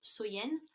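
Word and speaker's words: Samhain: Et, si vous voulez, dans le temps des Celtes, la plus longue nuit de l'année donc était Samen, donc qui se prononce Soyen.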